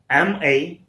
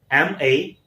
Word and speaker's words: malign: M-A-L-I-G-N, and the right pronunciation is malign. Stress is on L, not in the beginning. It's malign. When we start pronouncing with L, so there is a rising voice, so it becomes malign.